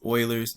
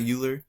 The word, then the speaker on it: Euler: on one which is euler's method okay this is not euler it's euler right common to mispronunciate his name um very very very